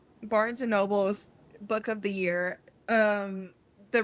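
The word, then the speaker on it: Barnes & Noble: You kept saying Barnes and Nobles yesterday, and I was like, damn, am I wrong? Like, have I been saying it wrong this whole time? Girl, no. There is no L. Barnes and Noble.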